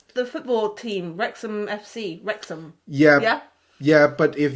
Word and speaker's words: Wrexham: what what is wrexham when you say any any city's name with h-a-m at the end um it's usually m not not ham because the h doesn't doesn't have nothing um they don't they don't pronounce h no yeah h is is a no sound alphabet right you see how